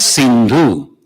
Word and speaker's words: Sindhu: When they used to come, there was a river called Sindhu. But these people, they could not pronounce Sa, so it became Ha. Sa became Ha. The Sindhu became Hindu. So the river Sindhu became